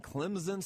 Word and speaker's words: Clemson: has game day in Clemson South Carolina you got to say it like a z if you're from South Carolina that's how we say it the Clemson Tigers man